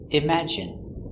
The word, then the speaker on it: imagine: the e sound nicotine and sometimes it sounds like it imagine in imagine there's no way to